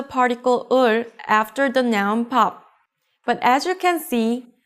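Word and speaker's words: 밥: let's read this one can you read it correctly it's easy right it's pop meaning rice in korean with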